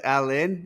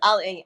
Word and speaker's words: Al Ain: Yes, Al Ain. I actually I don't say I don't know how to pronounce right because it's Arabic, so Yeah. it's like a different pronunciation, you know. But yeah, it's Al Ain.